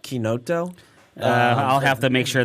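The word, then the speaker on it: chinotto: So in the U.S., I think you can get away with like cinato. Okay. Over there, they pronounce it like quinoto.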